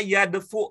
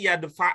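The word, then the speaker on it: يدفع: Apakah yadfu itu apakah fa-nya itu domah? Coba dicek sebentar, Bu. Sudah pernah belajar kan ya Bu ya, bagaimana cara mencari kata di kamus dengan cepat? Ibu cari di huruf dal. Huruf dal. Iya, bagaimana bacanya? Terus? Iya, berarti bukan yadfu ya Bu ya?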